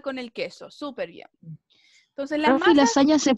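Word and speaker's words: lasanha: el queso supervía la lasaña se pronuncia igual igual lasaña recuerden que la nh cierto se pronuncia como nuestra ñ entonces en algunas palabras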